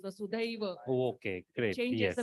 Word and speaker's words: Vasudhaiva: It's not Vasudev, it is Vasudhaiva.